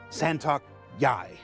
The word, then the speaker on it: Sa'Tok.Yai: latest Xi'an fighter, the Santok Yai. Santok Yai. It's pronounced just like it's spelled.